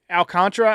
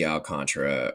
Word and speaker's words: Alcantara: I I I don't see Alcantra or honestly it's spelled Al Alcantara. I don't know why it's Alcantra. It's Yeah, but it's pronounced Alcantra.